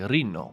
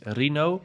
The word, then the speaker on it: Rino: The actual correct pronunciation is actually Rino because it's an Italian name, but my family just says Rino and many English people say Rino.